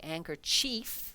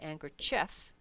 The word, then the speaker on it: handkerchief: And the same thing, we don't actually say handkerchief, because this word is chief. We say handkerchief with an E in there, but we have to